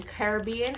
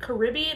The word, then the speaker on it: Caribbean: last one is the pirates of the caribbean caribbean how do you say is it caribbean or caribbean comment down below how do you